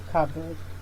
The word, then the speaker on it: cupboard: number 37 is pronounced cupboard covered cupboard where we tempted to think that cop can join with ball to give us coffee board it is just pronounced covered with a p deleted so it is pronounced